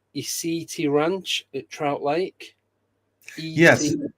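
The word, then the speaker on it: ECETI: I don't know if I'm going to pronounce this right. Isiti Ranch at Trout Lake. Yes, ETI. ESETI.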